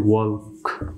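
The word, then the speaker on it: walk: বা ইউ না থাকলে এল কে এর উচ্চারণ হবে ক এবং এল অনুচ্চারিত থাকে যেমনটি এখানে উদাহরণসমূহের মাধ্যমে বিষয়টুকু আরও সঠিকপূর্ণভাবে আপনারা বুঝতে পারবেন এখানে আমি দুইটি উদাহরণসমূহ লিখছি ঠক তারপর হচ্ছে ওয়ার্ক ওয়ার্ক তো এখানে আমি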